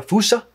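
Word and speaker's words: fossa: Last time in unidentified animal identification, there was an animal that I identified as being a fasa or if you want to pronounce it in a more malagasi way, a fussa.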